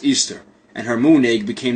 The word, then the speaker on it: Ishtar: after the spring equinox semiramis became known as ishtar which is pronounced easter and her moon egg